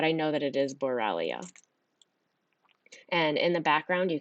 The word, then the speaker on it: Borrelia: that carry borrelia burgdorferi and i may not pronounce that last part correctly but i know that it is borrelia and in the background you can see a